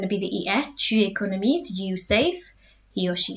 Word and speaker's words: économise: All of these ones are pronounced the same. J'économise, tu économises, il économise, elle économise, because the end here is silent.